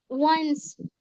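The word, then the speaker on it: once: अब यहाँ पर देखिए, वंस। वंस। ओ का साउंड क्या आ गया? व।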